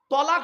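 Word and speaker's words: طلاق: স্বামী তার স্ত্রীকে ডিভোর্স দেয় সেখানে একটা শব্দ উচ্চারণ করে তালাক বলে না আরে ভাই বলুন না আরে বউ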